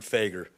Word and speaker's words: Fager: is or I it's pronounced figure okay Mr Baker thank you my name is fager I am the commander